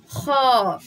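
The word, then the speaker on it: خ: তাহলে এটা হচ্ছে খ। গলার ওপর সেট একটু আওয়াজ দিয়ে উচ্চারণ হবে খ।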